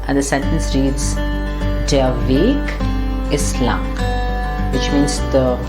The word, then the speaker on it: weg: I don't know for what reason this word, Weg, with the small V, which means away, gone, is pronounced kurz.